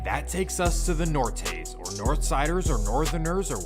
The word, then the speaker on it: Norteños: Just say Nortes, because Norteños is annoying. I don't think that's how you. I never heard no one say it like that. So that's how you know you're not from Cali when you say Norteños when it's Nortes.